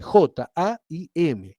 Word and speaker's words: Jaim: Bueno, en hebreo la palabra vida se dice Jaim. Entonces, si yo lo tengo que dar el sonido en castellano, lo voy a escribir con J. Voy a escribir J-A-I-M, Jaim.